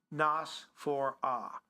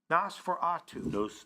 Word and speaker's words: Nosferatu: It's pronounced Nosferatu. Nosferatu.